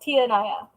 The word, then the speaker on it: Tia Naya: It's pronounced Tia Naya. Tia like auntie in Spanish, and Naya. I started my live at 5:30.